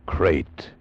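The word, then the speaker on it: krait: What kind of a guy Harry Pope was, and what kind of a snake a crate is. First, the crate. You spell it K R A I T.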